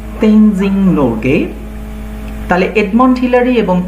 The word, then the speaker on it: Tenzing: তো এটা Edmund Hillary and তেনজিং। দেখো এখানে কিন্তু টিইএন, এই যে টেন, এটা কিন্তু আমরা ট বলবো না, আমরা বলবো ত, ত উচ্চারণ হবে।